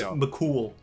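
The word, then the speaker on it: Cumhall: it looks like it like his name looks like mum ha or whatever and it's mol is is how you would pronounce it I can't believe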